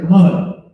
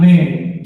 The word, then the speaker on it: man: Mun, the character mun. Not man, but mun. That's how it's pronounced. Mun. I know we see the word M-A-N, think it's man, but it's mun.